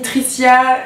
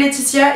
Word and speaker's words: Laetitia: Alors je m'appelle Laetitia et pas Titia, ni Tricia, ni voilà. Petite référence à ma Nicole si tu me regardes qui m'appelle tout le temps Tricia, c'est trop marrant. Je m'appelle Laetitia et ça s'écrit L-A-E-T-I-T-I-A.